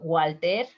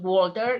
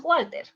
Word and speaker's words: Walter: Walter. It's not Walter, you pronounce Walter.